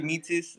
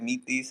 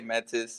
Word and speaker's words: Metis: of of meatus I I say mitsis uh it's like the Greek way it's like meet these and it's a Greek word but a lot of people say metis or Mattis I like